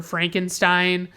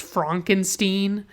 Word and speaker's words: Frankenstein: throughout the movie where he's correcting people who call him Dr. Frankenstein, and he insists that his name is pronounced Frankenstein.